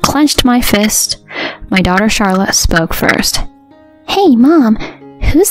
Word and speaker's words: Charlotte: I'm your dad right it's not shley it's Charlotte I don't have a